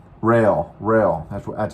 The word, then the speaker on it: Roehl: trainings here at Ro or how do they pronounce that I I was calling it roll it's not called roll or R rail ra that's that's how they pronounce it's r o